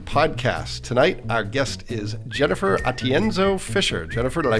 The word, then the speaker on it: Atienzo-Fisher: Tonight, our guest is Jennifer Atienzo-Fisher. Jennifer, did I pronounce that right?